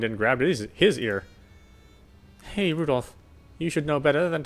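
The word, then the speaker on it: Rudolf: it's just double anyway this guy's name is pronounced rudolph he must hate grandfather for giving him that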